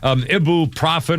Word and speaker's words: ibuprofen: Have you ever heard anybody say ibuprofen? I need some ibuprofen. No, it's ibuprofen, but it's spelled I-B-U-F. I mean, it's spelled I-B-U-F. Ibuprofen. Nobody says ibuprofen. Everybody I know says ibuprofen. Everybody says I need some ibuprofen. Ibuprofen. Ibuprofen. They don't say the ibuprofen. Ibuprofen.